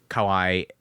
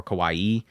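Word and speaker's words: かわいい: is like you know you can't say Kawai or Kawaii you know you have you have to you have to drag that last syllable out there properly otherwise you'll say something completely different U there's a lot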